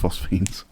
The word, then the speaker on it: phosphenes: the phosphenes mm-hmm and I did check it on YouTube it's pronounced phosphenes thank you thank you